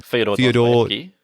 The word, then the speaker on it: Fyodor Dostoevsky: In contrast, The Double is based on a novella called The Double by, how do you pronounce his name? Fyodor Dostoevsky.